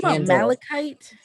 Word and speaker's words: malachite: have orange and dark blue because orange is malachite is that how you say it yeah it's